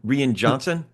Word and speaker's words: Rian Johnson: Rian Johnson.